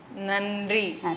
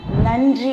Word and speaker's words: நன்றி: அதுக்கு தமிழ்ல என்ன சொல்லுவீங்க நன்றி நன்றி அப்படின்னு நாக்க கடிச்சு சொல்லணும் சரியா ஏன் நாக்க கடிச்சு